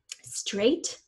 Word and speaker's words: straight: almost always spell ER straight the AI is the a sound gh is silent and the teeth the